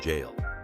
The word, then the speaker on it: Gaol: I'll never forget the night I stepped inside the old Melbourne jail.